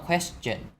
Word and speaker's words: question: Chữ này nó hơi khó đọc, nó hơi đặc biệt ha. Thường mình đọc là shin cho những cái đuôi là ton. Còn ở đây chúng ta đọc là âm chỉnh.